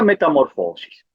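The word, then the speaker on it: μεταμόρφωσις: original es una palabra griega oyeron y se pronuncia metamorfosis ya dijimos que viene de dos vocablos meta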